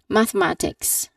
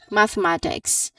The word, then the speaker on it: mathematics: Now people usually pronounce it as mathematics. Mathematics. So they t tend to cut off some syllable. But here the proper pronunciation of this word is that you should say all syllables clearly.